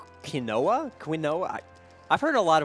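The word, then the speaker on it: Quina: $10 to name quna quinoa quinoa which I prefer to pronounce quino that that's that's pretty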